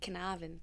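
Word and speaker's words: Carnarvon: for you is um Canavan. Am I pronouncing that right? Absolutely. Fantastic. I've never been there. You got to say with a bit like a twang though, like Canavan. Canavan.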